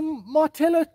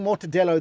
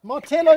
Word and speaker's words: Martello: It's a Martello Tower. I said it right. I've been saying Mortadello the whole day. But I got it right. Martello Tower.